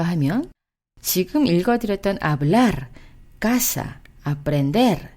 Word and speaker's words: aprender: aprender, aprender.